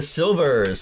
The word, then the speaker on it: Sylvers: So Boogie Fever by the Sylvers. Silver spelled with a Y, Sylver.